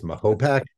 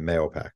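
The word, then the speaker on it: Mahopac: one more try um mayopac okay it actually has two pronunciations there's a debate in the town whether it's Mopac which is what the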